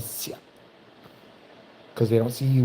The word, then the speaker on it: Ciao: told me, well, yeah, because it's like, like the way your name is spelled, CIAO, they think you're Italian, so they say Chia instead of Sia.